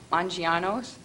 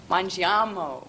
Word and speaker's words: Mangiamo: They will be opening a family-style restaurant called Mangiano's. Is that right? They're in the audience. Did I pronounce it wrong? Mangiamo with an M.